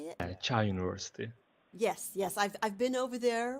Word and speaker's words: Çağ Üniversitesi: Çağ Üniversitesi.